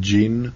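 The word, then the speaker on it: djinn: that's uh G uh gin is spelled g i n the drink and gin is d j i n n gin it's very similar yeah so uh I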